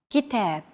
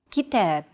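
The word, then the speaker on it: كتاب: of stressed syllables GitHub kitab notice that the second syllable is stressed it's pronounced longer and louder while the first and final syllables are shortened kitab if you think about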